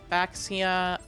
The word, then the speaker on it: Baxia: Synchro for an eight baxia that is it's pronounced weirdly it's a Chinese pronunciation will shuffle my not